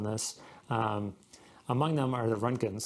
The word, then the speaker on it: Roentgen: Among them are the Runkins. So I believe it's spelled Roentgen, the Runkins.